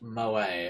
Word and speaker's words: moe: Pronounced moe, a word used to describe character traits that are cute, endearing.